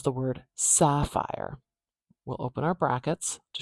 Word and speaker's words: sapphire: Okay, let's look at how to pronounce the word sapphire. We'll open our brackets to show we're writing an IPA now. That first sound. Same symbol as English spelling as you'd expect. We've got sapphire, ah.